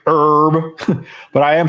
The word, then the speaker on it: Herb: hasn't fought since that Herb Dean you always do that he says it herb he pronounces the H and you don't no